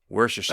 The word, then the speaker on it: Worcestershire: While we're on the subject, do you know how to properly pronounce Worcestershire sauce? Wow. Worcestershire. Worcestershire.